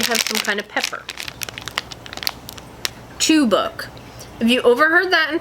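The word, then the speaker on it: Çubuk: Chubuk. I guess C-U-B-U-K is pronounced chubuk.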